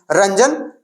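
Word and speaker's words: Roentgen: उसके बाद इसका नाम है रंजन, तो रंजन ही पढ़ेंगे, है ना, T साइलेंट कर दिया जाए तो क्या हो जाएगा, रंजन, यानी रंजन।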